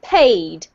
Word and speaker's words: paid: And another one here, this one is, there's just one syllable, so paid.